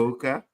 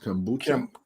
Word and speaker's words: kombucha: Kambuka. Kambuka. Is that it? It's pronounced kombucha.